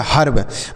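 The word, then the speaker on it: herb: अगर आर लिखा हो तो इस ई का जो उच्चारण होगा आ के रूप में होगा। आ मतलब इसको हम आ लिखेंगे, जैसे यच से लिखेंगे ह, ई के साथ आर है तो इसका उच्चारण आ होगा, आर से लिखेंगे र, और बी से ब, तो यह हो गया हर्ब।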